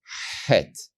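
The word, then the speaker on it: חית: Het. And you pronounce this letter as a harder Cha. Cha.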